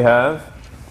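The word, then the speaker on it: ح: sure that we have a proper ha ha comes from the middle of the throat which we might have to work on if if uh if we're native english speakers but hey yeah yeah yeah once again hat is not a heavy letter it's a light letter so make sure we're not saying hey right and then so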